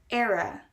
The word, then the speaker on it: era: and here we have the e in the beginning is not very stressed the r in the middle is stressed and then the a is pronounced at the end era era era you will